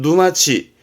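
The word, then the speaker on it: 沼地: 늪을 말하는 누마 자주 보입니다 이것도 봐두세요 그러면 발음은 누마치 마치니까 늪지대 늪지대를 누마치 합니다 요것도 자주 볼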